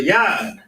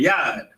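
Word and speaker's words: יד: Hands, a hand is a yad, or that's how you say it in Hebrew, yad.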